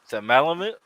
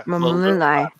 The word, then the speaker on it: Malumai: Malumai. The, Scott's been telling me wrong this all the time. I The- have. the stress is on the second syllable.